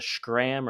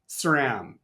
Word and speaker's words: SRAM: And it's the way we teach it is Sri Lanka SRAM. It's the same SR.